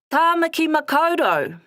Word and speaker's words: Tāmaki Makaurau: Tāmaki Makaurau, Auckland.